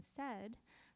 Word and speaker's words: said: is phonetically regular in said, right, it's the beginning sound and the ending sound, right? They both represent those sounds correctly. But if you listen to that middle part, it sounds like eh, right?